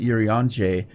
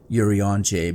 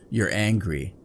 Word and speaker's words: Urianger: My pet name for him, because I have to really think every time I say his name, Urianger, because I want to call it You're Angry.